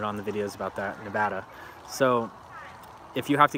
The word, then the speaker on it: Nevada: people have commented on the videos about that nevada so if you have to get evicted here